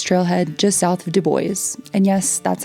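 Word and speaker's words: Dubois: to Trail Lakes Trail head just south of Deo and yes that's how the locals pronounce it Trail Lakes would be our endp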